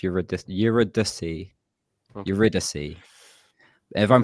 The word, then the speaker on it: Eurydice: I'm not sure if I'm Yuri Dice? mispronouncing. Dice. No, it's pronounced Eurydice.